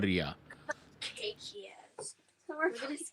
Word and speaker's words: Rhea: My name's Rhea. Rhea. Can you spell that?